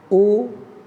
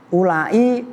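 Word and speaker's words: أولاء: Nah ulai kadang-kadang dibaca ulain pakai hamzah. Nyambung. Baca ulai setelah lam ada alif ada hamzah. Ini menurut ulama Hijaz. Nanti ada yang bacanya ula. Oh, itu menurut Bani Tamim.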